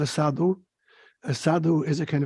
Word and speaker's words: sadhu: the cities there's this great Hindu word called sadhur a sadhu is a kind of a holy